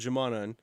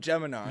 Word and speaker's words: Geminon: You had another band before called Jamanan. Jamanan. Did I say it right? I said it wrong, huh? It was called Geminon. Geminon.